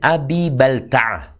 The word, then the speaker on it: Abi Balta'ah: Baca Hatib bin Abi Balta'ah. Bacanya Abi Baltaah.